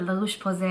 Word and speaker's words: La Roche-Posay: Last time I said La Roche-Posay and a lot of you guys are like, hey, you pronounced it correctly.